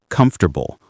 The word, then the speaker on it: comfortable: Or comfortable. Nobody says comfortable. We say comfortable or comfortable. And interesting becomes interesting.